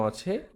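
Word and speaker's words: あ: পাঁচটা বর্ণ একসাথে দেওয়া আছে। তাহলে এটা কি হবে? এটা উচ্চারণটা কি হবে সেটা আমরা শুনি। আ অর্থাৎ এই বর্ণটা হচ্ছে আ।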